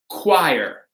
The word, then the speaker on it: choir: So we're going to pronounce this, very good, with a K. Excellent. It's going to be choir, right? Choir. So we talked before about chorus, right? That's a Greek word, chorus. This is just similar, choir, okay?